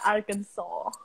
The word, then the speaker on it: Arkansas: Di sini Arkansas itu dibaca Arkansas. Karena ejaannya ejaan Prancis.